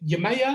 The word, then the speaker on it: Yemaya: into the am i it's pronet is it yamaya am i pronouncing that yeah yeah yeah yeah so where